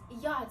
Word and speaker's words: yacht: But why the CH, English people? Why not just leave it as yacht, Y-A-T?